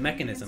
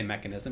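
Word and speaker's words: Mekansm: Okay, Lich himself pronounces it Mechanism. I just want to throw it out there in his actual, you know, voice commands or whatever. So I also say Mechanism, even though it's spelled Mechansum.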